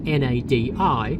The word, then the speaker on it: Nadi: We landed at Nadi, which is interestingly spelled N A D I, but is pronounced Nadi.